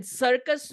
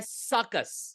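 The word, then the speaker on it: circus: Even सर्कस में यू का जो साउंड है वो यू नहीं है, सर्कुस नहीं है, यह है सकस।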